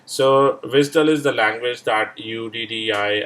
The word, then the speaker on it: WSDL: for all XML based web services right so Vistal is the language that uddi actually used and this is pronounced at Swiss dull right so WSDL right now the question comes